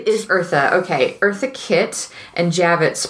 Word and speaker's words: Eartha Kitt: Eartha Kitt. It is Eartha.